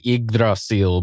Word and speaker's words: Yggdrasil: I think the technical pronunciation is Yggdrasil, but yeah, anyway. Yeah, I had that down as we get to see Yggdrasil.